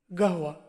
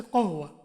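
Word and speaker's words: قهوة: যেমন ফেমাস একটা শব্দ আছে, গাহওয়া, মূল শব্দটা হচ্ছে কহওয়া। কহওয়া মানে কফি, ওরা কি বলে? গাহওয়া। কফটাকে ওরা গাইন বলে।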